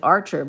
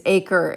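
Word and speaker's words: Acher: Most people pronounce it Archer, but it's not. They add an R to it, but or they add an A, like, no, A-C-H. Anyway, it's Aker, A-C-H-E-R, Aker, Aker.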